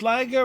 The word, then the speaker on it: Liger: Hey, it's Liger rhymes with Tyga.